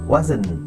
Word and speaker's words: wasn't: আচ্ছা, এখন আমরা ওয়াজ নট কে যখন আমরা কন্ট্রাক্টেড ফর্মে করব তখন হয়ে যাবে ওয়াজ।